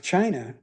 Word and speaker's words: Qin: But anyway, if we look at this map of China, now this this word Q I N is pronounced chin and that is where we get the word China.